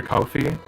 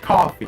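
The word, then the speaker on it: Ko-fi: looking at your cofi I I I want to pronounce it cofi it's just supposed to be pronounced coffee right when you go to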